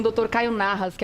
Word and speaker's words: Nahas: Você vai escrever o Narras com H, tá? N-A-H-A-S. É assim que pronuncia direitinho? É isso mesmo.